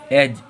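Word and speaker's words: edge: अब फिर से जो डी है वो जी के पहले आ रहा है तो यहाँ पर डी साइलेंट है। अगर डी साइलेंट होगा तो हम लोगों को पढ़ना क्या है, इसे क्या पढ़ेंगे, ई एज। एज। इसे क्या पढ़ेंगे, एज।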